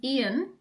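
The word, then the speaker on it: Iain: The love of my life, whose name is Ian, but it's spelt I-A-I-N, which leads me really nicely into one of these questions.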